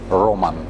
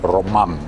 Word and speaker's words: Roman: They put the stress on the first syllable, Roman. But my name is actually Roman. The stress is on the second syllable.